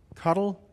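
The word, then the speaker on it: CoDel: I'll also teach you about um something called cuddle it's pronounced cuddle is cod um it's a control delay uh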